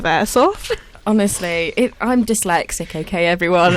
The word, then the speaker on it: Airsoft: It was like the Facebook group chat just saying, is she saying Aerosoft instead of Airsoft?